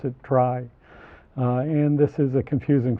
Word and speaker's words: trie: the word retrieval but we don't pronounce it tree because then we couldn't distinguish it from binary search trees so we pronounce it try and this is a